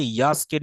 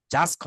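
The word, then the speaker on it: यास्क: সেই নিরুক্তম ইলেকশনকে ইয়াস্কের নিরূপ, তাহলে আমরা উচ্চারণ করতে হবে ইয়াস্ক, জাস্ক হবে না কিন্তু, জ হবে না, এটা জ সাউন্ড না, এটা হবে ইয় সাউন্ড, ইয়াস্ক। সবাই কি বুঝতে পারছেন নাকি জটিল হয়ে যাচ্ছে?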